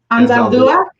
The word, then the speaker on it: Anzaldúa: Richard, how do you say his last name? Anzaldúa. That's what I say. There you go. I said it right.